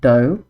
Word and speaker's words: dough: So, even though they both end in o u g h, the pronunciation is completely different. Enough. Dough.